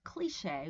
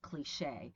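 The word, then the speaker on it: cliché: British pronunciation prefers cliche with the stress at the beginning because in a way we're anglicizing the word, and Americans prefer cliche as in crochet, right?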